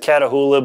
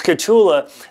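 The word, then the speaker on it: Kahtoola: I always pronounce it Catahoula, but it's Catula.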